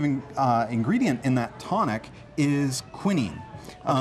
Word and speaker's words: quinine: And the active ingredient in that tonic is quinine. You might have heard it pronounced quinine.